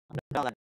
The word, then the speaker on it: dollars: Dollars. Nhớ là 30 đô là số nhiều cho nên phải thêm cái từ Z vào ha. Phải đọc là Z.